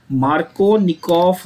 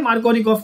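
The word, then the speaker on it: Markownikoff: Double F is pronounced as वी, ठीक है? ये रशियन लॉजिक है ये, ठीक है? रूल क्या है मार्कोनिकोफ का, दोबारा एक बार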